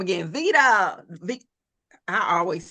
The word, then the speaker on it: Viddya: Vida.